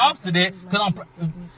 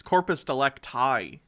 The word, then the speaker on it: corpus delicti: no corporate delegates sir you can tell your obsidian cause it's corpus delicti i think he's mispronouncing it probably because he's not